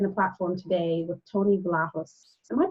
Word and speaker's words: Vlahos: And so that said, I'm delighted to be sharing the platform today with Tony Vlahos. Am I pronouncing the last name correctly?